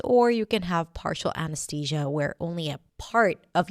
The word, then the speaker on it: anesthesia: Anesthesia. You might even hear people saying it with a t sound, anesthesia. But usually it's pronounced with a thousia. Anesthesia.